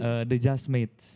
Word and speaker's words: The Jasmates: Bacanya gimana sih, Steve? Jazzmate atau gimana sih? The Jazzmates. The Jazzmate. Iya, Oke. The Jazzmates.